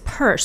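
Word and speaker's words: Peirce: more about him so apparently you pronounce his last name as purse so Lincoln purse is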